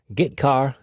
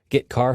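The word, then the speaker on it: getchar: character IO functions are gitar and put car that's how I pronounce them git car fetches a character from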